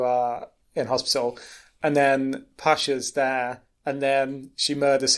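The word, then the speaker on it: Pashka: Anyway, so it turns out that she has a child whose name is Pasca or something. Pasha. Thank you. So I knew I was pronouncing this wrong.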